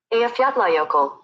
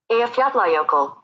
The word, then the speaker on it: Eyjafjallajökull: That, because I've never been able to pronounce it, but this is how it's pronounced according to Google. Eyjafjallajökull. Eyjafjallajökull. Eyjafjallajökull.